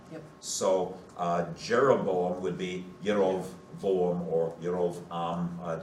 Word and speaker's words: Jeroboam: So it would be Yerovam or Yerovoam. And when the Hebrew language was transliterated into German, the German J is pronounced Yot. It's the Y sound. Yep. So Jeroboam would be Yerovoam or